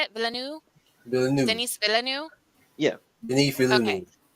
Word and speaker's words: Villeneuve: I cannot pronounce Villeneuve. Is that how you say it? Villeneuve? Villeneuve.